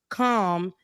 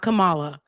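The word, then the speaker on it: Kamala: kind of keep her calm and for people who can't pronounce um you know Comm Harris's name calm calm not Cala calm not koala you notice Rebecca on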